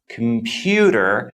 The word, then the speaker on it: computer: and softer for example in the word computer computer the stress falls on the second syllable you can clearly hear